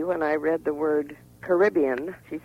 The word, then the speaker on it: Caribbean: origin is mysterious but Caribbean is the pronunciation with the pedigree and also the one used in the area I'm surprised no one's